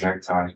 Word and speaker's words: NCTI: And there's a debate about whether we should pronounce it NICTI or necktie. I'm firmly team necktie myself, but everybody's got their own view of that.